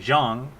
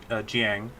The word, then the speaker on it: Zhang: It's actually Zhang, but in Japanese it would be Jiang, which there's actually like a funny like bit of dialogue later on with that pronunciation, because you can say it both ways depending on whether you're Chinese or Japanese.